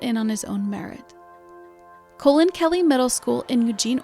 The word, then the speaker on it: Colin: the pilots the late Coen pal adopted the pronunciation of his name as colen after hearing how Coen Kelly's name was pronounced